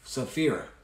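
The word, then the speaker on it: Sapphira: uh how do you say her name that's saphira so it talks about the fate of ananias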